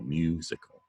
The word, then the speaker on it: musical: The stress on the first syllable, musical, musical.